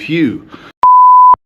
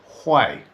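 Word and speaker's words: Huế: When you spell Hu Ee, you would think it's spelled Hugh, but it's actually pronounced Hay.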